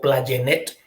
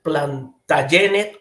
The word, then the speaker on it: Plantagenet: el príncipe Eduardo eh platet O plenet como usted lo quiera pronunciar no eh algunos dicen plantagenet o Plant o plantagenet entonces Este es de Inglaterra